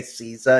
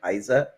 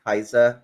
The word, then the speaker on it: Caesar: like K they say Caesar instead of Kaiser so a lot of those mistakes end up coming from in Latin it would be Kaiser uh CA would be